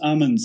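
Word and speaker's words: Amundsen: wrong let me know but is it why a Monson lived in Scott died it's pronounced almonds and so the emphasis is on da okay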